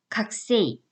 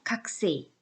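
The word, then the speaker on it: 学生: 3 이라고 적혀 있잖아요 그런데 이거는 발음은 요 각 구에서 꼴을 좀 약하게 발음 이에요 그래서 가꾸 3이 보다는 살짝 그냥 각 쎄이 각 쎄이 이 정도에요 아 그래서 이 군자가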